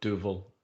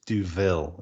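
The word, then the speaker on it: Duvel: It's Duville is the pronunciation, the Belgian pronunciation.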